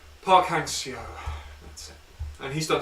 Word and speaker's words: Park Hang-seo: Get the pronunciation Park Hang-seo.